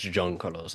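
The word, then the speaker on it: Juan Carlos: It's not Jean, it's John Carlos. That's why my name is a Catalan name.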